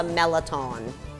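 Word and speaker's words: mirliton: If you're from New Orleans, you call this a Merliton. It's spelled Merliton, and in other parts of the country, it's referred to as a Chayote squash.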